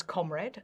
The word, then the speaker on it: comrade: It was pronounced as the words company, comfortable, frontier, and sponge were pronounced with an a.